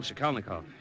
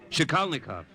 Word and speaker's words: Shikalnikov: Well, actually, Father, it's Michael Shikalnikov. Would you mind repeating that? Shikalnikov. It's Polish.